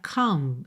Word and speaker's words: comb: Começando então, Olha só que interessante essa palavra comb, se escreve c o m b, mas você não pronuncia o b, você não diz comb, comb your hair, ok?